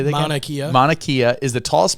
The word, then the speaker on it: Mauna Kea: Mauna Kea.